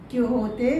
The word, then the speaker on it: Quixote: Now children, it is pronounced as Quixote because it is a Spanish word.